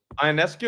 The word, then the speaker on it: Ionescu: Sabrina Ionescu? Ionescu.